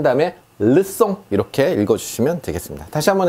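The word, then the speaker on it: leçon: 약송 이렇게 돼 있는데 자, 요 발음이 지금 쌍숏 발음이라 송 발음이 나고 있죠. 약송. 이 녀석은 소년이란 뜻이고요. 르송 하면요, 수업이란 뜻입니다.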